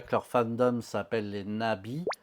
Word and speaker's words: Na.V: leur fandom s'appelle les Nabi, V en européen, mais ça se prononce Bi en coréen, et Nabi, c'est papillon en coréen.